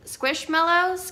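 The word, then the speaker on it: Squishmallow: and i think that you pronounce them squish squish mellows kind of like marshmallow but squish mellow and this one is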